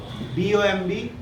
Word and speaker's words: bomb: me sir where is if there is b at the end of any word it will always be silent suppose c o m b b o m b bomb so t u